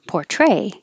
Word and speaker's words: portray: Um, Portray, the verb has stress on the second syllable. Portray.